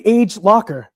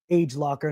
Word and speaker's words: Agelocer: So the next brand that we're going to be looking at, ladies and gentlemen, is going to be Agelocer. And I believe it's called Agelocer. Not some people pronounce it Agelocer.